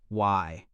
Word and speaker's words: way: To understand the Maya fully, one must also look at their concept of the way, pronounced Y.